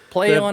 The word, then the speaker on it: Plaion: I know it's PLAION. No, but they it's want it to supposed be pronounced play on.